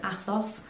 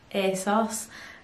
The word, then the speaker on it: ASOS: on to asos now however you want to pronounce it enough people pronounce it different asos a sauce um this is a